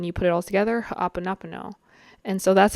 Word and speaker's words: Hoʻoponopono: So when you put it all together, Ho'oponopono. And so that's how I will be pronouncing it throughout the rest of this video.